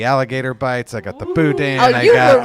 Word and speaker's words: boudin: Boudin.